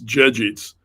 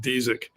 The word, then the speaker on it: Dziedzic: Well, in Polish, it's Dziedzic, but no one can remember that. So the Americanized pronunciation's just Dzik.